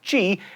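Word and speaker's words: Χ: The X is a reference to a Greek letter, X, which is pronounced chi, and is the first letter in the word for Christ.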